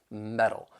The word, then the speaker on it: metal: be a flap T which is going to sound more like a soft D sound and the reason that